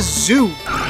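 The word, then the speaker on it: Zu: This is a zoo. Z-U is how it's spelled.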